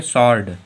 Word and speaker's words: sword: SWORD में क्या है? जो W है वो हम लोगों का यस के बाद में आ रहा है, यस के बाद में जब W आता है तो W साइलेंट होता है।